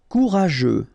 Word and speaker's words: Courageux: Courageux. Final X not pronounced, and then you've got this U, E, and G plus E. After that it's je, so je, okay? Courageux.